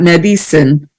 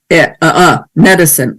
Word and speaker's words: medicine: For instance, medicine, it's not medicine with the e, but it's medicine, a schwa.